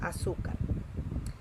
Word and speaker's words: azúcar: de palabra es azúcar la sílaba tónica es su tenemos la última sílaba y la penúltima si la significa que azúcar es una palabra grave y las palabras graves